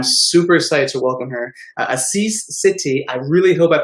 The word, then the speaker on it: Asis Sethi: mess and i'm super excited to welcome her assis city i really hope i pronounced that right we were rehearsing it before